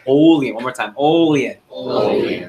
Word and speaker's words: Olean: Perfect. You actually said it right. Everyone say Olean. Olean. Everyone out loud so you remember. Ready? Olean. Olean. Okay, it's not Olean.